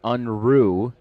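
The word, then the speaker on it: Unruh: my phone and I I have been pronouncing Josh's name wrong this entire time but Josh is UN is all in it is Josh unru I did have a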